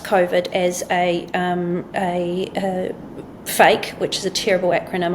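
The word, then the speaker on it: PHEIC: So the acronym is P H E I C, but phonetically you'd read it as fake.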